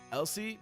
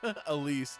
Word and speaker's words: Elise: Elsie, not how you say her name. Oh, Elise.